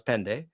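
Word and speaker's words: πέντε: Then you get to pen pente, which they pronounce pende.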